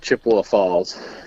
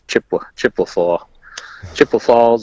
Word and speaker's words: Chippewa Falls: Yeah, I always joke it's if you're not from there, you call it Chippewa Falls, and you put Ewa in there, a third syllable, and if you're from there, it's Chippewa Falls or Chip Waffles.